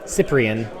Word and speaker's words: Cyprien: Cyprien uh is spelled with a c, but it doesn't make a c- sound. It makes an s sound just like maru, which is just wrong.